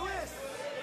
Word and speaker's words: San Luis Obispo: Is it pronounced San Luis Obispo or San Luis Obispo? Luis! Luis! I've been mispronouncing your fair city's name for many years now, and for that, I do apologize.